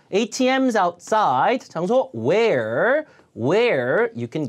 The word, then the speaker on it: ATMs: 앞에 강세 주고 ATMs, automated teller machines. 자동 현금 지급기죠. 자, ATMs outside.